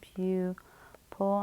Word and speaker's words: pupil: This one here, pupil, we'll divide right there, so it makes a long U sound, pupil.